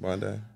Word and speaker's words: Bondi: beach yeah that's how you say it right Bondi uh Bond Bondi if you wish you go